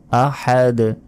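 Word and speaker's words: أَحَد: পড়বেন আহাদ আহাদ আহাদ হার উচ্চারণ হবে আহাদ শেষে ধাক্কা দিয়ে পড়তে হবে কফ বা জিম দালে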